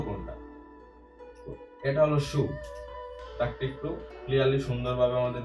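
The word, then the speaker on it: 竖: এটা হলো শু, তাকে একটু ক্লিয়ারলি সুন্দরভাবে আমাদের দেখতে হবে লম্বা করে শু।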